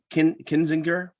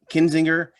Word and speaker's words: Kinzinger: a resolution where they censor uh reps uh kenzinger i say his name kenzie kinzinger and uh and chaney uh and for good